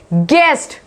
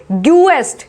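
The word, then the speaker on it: guest: गेस्ट, इसको बोला जाएगा गेस्ट, ना कि ग्यूएस्ट, ग्यूएस्ट, इसमें यू की कोई आवाज नहीं आ रही है, इसमें हम बोल रहे हैं गेस्ट बोल रहे हैं।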